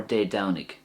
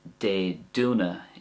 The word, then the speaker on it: Dé Domhnaigh: So An Downach or De Downig. That's the way I would say it. An Downach or De Downig. But you could also say it with a do sound, sorry. So for example, An Dúnach is fine as well. That's the way they might say it in Connemara and Galway, the Connacht dialect.